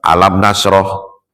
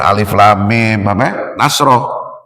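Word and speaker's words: ألم نشرح: Ya, beda kalau kita baca alam nasroh, alam taro, walaupun sama alif lam mim, ya kita bacanya alam, bukan alif lam mim taro. Ya, bukan alif lam mim nasroh, enggak.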